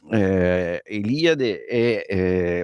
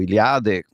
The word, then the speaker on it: Eliade: E allora Mircea Eliade o Iliade, a seconda di chi lo pronuncia, è della nazione in cui si pronuncia, perché lui è un espatriato rumeno in Francia.